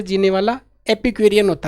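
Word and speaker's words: epicurean: जैसे ये बार बार में खड़ा है इधर आराम से मजे की जिंदगी, एपिक्यूरियन है। पिक लेगा यहाँ पे, पिक आ रहा देखो, इपिक, इपिक यूरियन, UREAN, एपिक्यूरियन।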